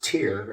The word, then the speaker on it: Tyr: But we pronounce it tier as in tier 1, like a tier 1 unit.